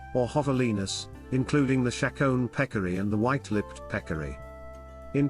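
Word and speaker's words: Pecari: American language of Carib the pronunciation of both terms is peccary tajiku appears to be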